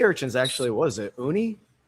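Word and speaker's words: uni: Who's going to have a good pronunciation on these two? Jamie, you're educated. Sea urchins. Actually, what is it? Oonie. Yeah. Sea urchins. Oonie.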